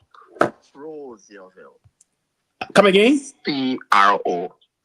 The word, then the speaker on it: Crozierville: The correct pronunciation is Crozierville. Come again? C-R-O. Crozierville.